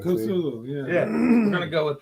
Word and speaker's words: Cthulhu: I mean, I've heard other people do the hard T where they say Cthulhu instead. But listen to Metallica when they do the Cthulhu song.